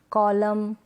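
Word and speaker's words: column: तो ये जो स्पेलिंग्स है ना, यहाँ पर एन से पहले लास्ट में, स्पेलिंग के लास्ट में क्या है, एन से पहले एम है, इसलिए हम एन को प्रोनाउंस नहीं कर रहे हैं।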